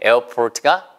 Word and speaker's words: airport: 에 에어 하면은 영국식 발음이에요. 에어포트 이러면 영국식 발음이고요. 에어 이런 식으로 이렇게 발음을 붙여서 에 다음에 그냥 어 발음만 하면 미국식 발음입니다.